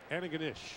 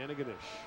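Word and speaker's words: Antigonish: for the BC Lions how do you say that again St Francis Xavier no no no no no that last part Anna ganish yeah there you go Anna ganish very nice very Scenic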